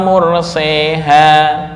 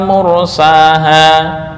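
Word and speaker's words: مرساها: Kenapa yang dibaca imalah kok enggak semuanya? Dari segi wazan kan sama tuh, majroha mursaha, harusnya bisa dong majreha wa murseha. Kenapa kok cara membacanya harus majreha wa mursaha?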